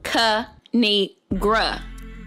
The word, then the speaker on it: Kinigra: me tell y'all a thing of three it's pronounced cu need gra now subscribe oh i cracked myself up thanks